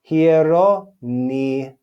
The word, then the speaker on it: Hieronymus: Hieronymus, and Dionysius. So you see, we pronounce that letter upsilon with the sound E when we see it in speech.